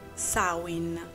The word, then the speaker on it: Samhain: Tutti noi la conosciamo come Samhain, ma in realtà la pronuncia corretta è Samhain, il cosiddetto capodanno celtico.